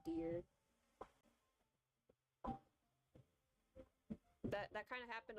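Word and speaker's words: Dire: I sometimes keep forgetting his name is now pronounced dear That that kind of happened a little bit after the game's release.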